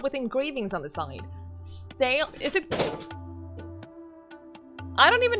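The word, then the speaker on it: stele: memor memorialize individuals battles and other important events steely okay thank you steely all right we need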